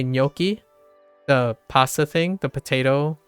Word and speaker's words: gnocchi: Like gnocchi, when you say gnocchi, the pasta thing, the potato pasta, gnocchi, GN, GNOCHCCHI or something, gnocchi, it's nya, so GN. The same, it would be like N tilde, gnocchi.